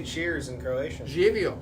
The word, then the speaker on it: Živio: Živio. Živio.